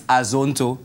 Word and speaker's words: Azonto: have aono actually a you got to say it right it's Azonto you can't be a